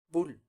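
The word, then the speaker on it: 불: También es monosílaba, ¿cómo sería? Bull.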